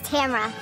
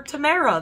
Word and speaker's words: Tamra: know my name is tamra fred she never told anyone the correct pronunciation of her name brett literally called her tamara the entire two episodes